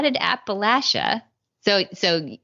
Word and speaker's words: Appalachia: did Appalachia so so you and Tenya taught me how to say this in case anybody's wondering why I'm going back and forth from Appalachia to Appalachia is you said imagine yourself throwing an Appalachia so right so so